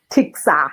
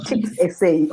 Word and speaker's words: TICSA: Not sure whether is it TICSA or is it TICSA. TICSA, not TICS SA. Okay, TICSA.